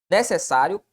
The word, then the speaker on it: necessário: Necessário é paroxítona terminada em ditongo. Vamos ver. Necessário é uma paroxítona? Sim. A sílaba tônica está na penúltima sílaba. Tranquilo.